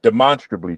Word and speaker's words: demonstrably: Um, you know, you you when you approach the word, you you think of demonstrate and you and but when you say it properly, it brings to mind monster and you you really